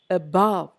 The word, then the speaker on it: above: first syllable is stressed in the next set it is not the first syllable it is the second syllable above i don't say about i say above i don't say begin